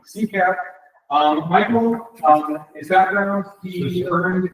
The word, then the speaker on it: CCAP: Don't pronounce both P's. Don't pronounce those P's. That's one B. CCAP.